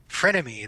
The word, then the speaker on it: frenemy: How do you pronounce that? Frenemy? Frenemy.